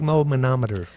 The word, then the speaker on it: sphygmomanometer: like big no-no my mom at her big moma no meter that's right that's how you say it and